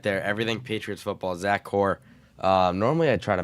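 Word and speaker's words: Kuhr: I was like wait a minute what they have the same name but it's Zack Zack Core. It's spelled Kirk.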